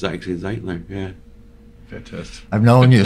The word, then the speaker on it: Zeitler: of people don't know that I think it's Ziggler because of the part but it's actually zitler yeah fantastic I've known you so long as